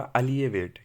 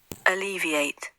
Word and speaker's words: alleviate: इसका जो उच्चारण होगा वो होगा अलिएवेट। क्या होगा? Alleviate. अलिविएट, ठीक है, अलिविएट यानी कम करना होता है।